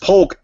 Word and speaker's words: Polk: chosen quickly and by Forrest hates it when you pronounce the L. Forrest Polk. Poke, yeah. Polk. You just pronounced the Polk. Poke. Polk. Poke. Like Hulk.